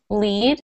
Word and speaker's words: lead: And then in the second sentence, the cowboys lead the cattle to the ranch. So in this sense, in the second sentence, we're pronouncing it L-E-E-D.